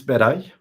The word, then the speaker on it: Beray: How was my pronunciation? That's okay. That's correct. No problem at all. Yeah. Can you say it again for us, just for the record? Originally it's Beray, Uh-huh.